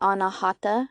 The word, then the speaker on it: anahata: forgiveness and for empathy and in Sanskrit it's pronounced the anahata chakra and it's also associated with unconditional love